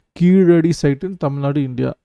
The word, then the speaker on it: கீழடி: நிறைய பேருக்கு இது இங்கிலீஷ் சேனலில் அதை ப்ரொனவுன்ஸ் பண்ண தெரில, கீசடி அப்படிலாம் படிக்கிறாங்க. அது தமிழுக்கே உரிய ழகரம். ஸோ கீழடி சைட் இன் தமிழ்நாடு, இந்தியா.